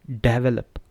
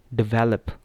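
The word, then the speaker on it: develop: लेकिन मैं आपको क्या कह रहा हूँ, गलती कब होती है, जब हम बोलते हैं डेवलप, जब हम पहले पे स्ट्रेस करते हैं तो वो गलत होता है प्रोनाउंसिएशन। अब दूसरे पे जब हम करते हैं को क्या होगा, डेवलप, तो डेवलप जो है वो ठीक प्रोनाउंसिएशन है, ठीक है।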